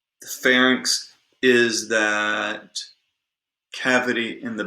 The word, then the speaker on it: pharynx: And by the way, we say larynx and pharynx Okay, that is how it is produced. That's how it's pronounced. You don't say larynx and you don't say pharynx.